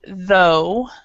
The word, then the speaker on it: though: Then we have this one, which is though.